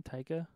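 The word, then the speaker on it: Taika: the director did you see boy so you pronounce his name tyka yeah okay yeah oh yeah I saw a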